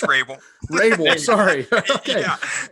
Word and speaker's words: Rabel: I guess I should have actually asked you if I pronounced your last name correctly. You didn't. It's Rabel.